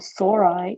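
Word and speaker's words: sori: in the sporingia are called sore eye or singular isaurus like Brachiosaurus but it's spelled s-o-r-u-s which is kind of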